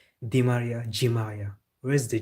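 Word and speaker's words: Di María: They should say D and not G.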